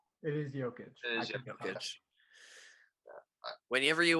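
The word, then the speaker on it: Jokić: I'm pretty sure it's pronounced Jokic because he's from Europe, so. It is Jokic.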